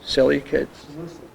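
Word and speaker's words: Seleucids: Telmies tamese or um uh selicids salucids.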